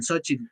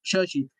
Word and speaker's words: Xochitl: Hoy así lo pronuncian, Xochitl. La manera correcta es Xochitl.